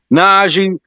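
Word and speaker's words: Nnaji: I'm mispronouncing his Najee, name. Excuse me. Angie, James Najee. Najee.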